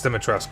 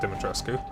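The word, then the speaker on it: Dimitrescu: everyone knows lady dique I'm probably mispronouncing that but that's correct it's demitrus not not dimitru yes everyone knows her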